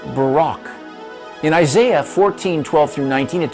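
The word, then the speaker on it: ברק: word lightning in Hebrew is word 12.99 it's pronounced Barack in Isaiah 14 12-19 it talks about Satan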